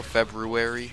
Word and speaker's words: February: last two videos ago, February versus February. It's spelled weird, but you say it February, but it's with an R.